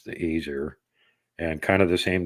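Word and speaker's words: Æsir: branches to it apparently the asier which yes it's the same pronunciation as the Norse gods the aier and kind of the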